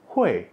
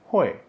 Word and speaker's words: 会: Kalian udah belajar ini hui, artinya bisa. 我会唱歌, saya bisa menyanyi. Nah, ini hui. Tapi kalau ketemu dengan huruf ini, bacanya jadi kuai ji, artinya akunting.